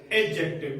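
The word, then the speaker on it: adjective: Meaning में यदि ए और जे के बीच में कोई भी डी आए तो ये डी क्या रहेगा? हमेशा साइलेंट। ये कभी भी डी गुलाम नहीं आएगा, इसलिए अपन क्या बोलेंगे इसको? एडजेक्टिव।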